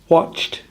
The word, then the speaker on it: watched: Watched is the same as worked.